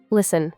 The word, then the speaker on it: listen: Listen with a silent letter T.